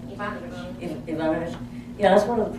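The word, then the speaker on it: Evanovich: How do you pronounce that Ivanovic's name? Is that right? Ivanovich.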